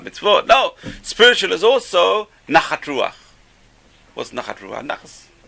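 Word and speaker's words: נחת: I shouldn't say nachas. Give your parents pleasure. You just help your parents spiritually. Nun, chet, taf. Nachat. Because they pronounce taf, saf. So nachat became nachas.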